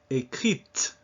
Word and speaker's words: écrite: Écrite, when you add an E. Français, that's masculine. Française. You now pronounce that E.